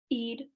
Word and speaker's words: Eid: someone tell me how how to say this Eid Eid it's pronounced okay that's very interesting I did not